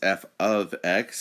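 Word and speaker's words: f(x): Now, I gave you a little notes about how this is f of x is how you pronounce it.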